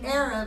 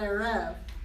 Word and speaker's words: erev: Remember it's a seglet, so it's Erev and not Erev.